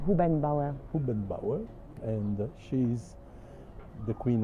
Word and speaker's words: Hubenbauer: Pronunciation? Hubenbauer.